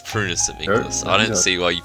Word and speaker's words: Prunus Amygdalus: it's Prunus Amygdalus. I don't see why you people keep getting the name wrong.